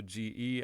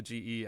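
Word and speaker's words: げ: again people think oh g e and therefore ja or j like gem or something but it is not it is only the ge as in get and that is the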